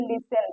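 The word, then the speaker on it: listen: आता है वहां पर टी साइलेंट होता है ये रूल हम आपको पिछली वाली वीडियो में बताए थे देखिए लिसन lung lamb lunch etc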